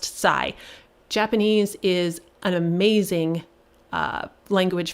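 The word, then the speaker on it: 西: the word for extreme both of them are pronounced sai japanese is an amazing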